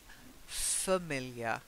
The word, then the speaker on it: familiar: the next one is familiar not like family we say family so